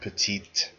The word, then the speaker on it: petite: which are usually has which usually has a pronounced final consonant so here we have petite or petite plural with